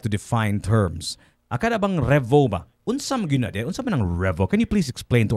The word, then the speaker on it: REAVO: A lot of people pronounce it as Rio. Revo. No. Uh, it's really pronounced as Revo.